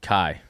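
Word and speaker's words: Cai: Kai. Kai. All right, it's pronounced choi. So, really? Yeah. So kai c ai is the mandarin pronunciation of it.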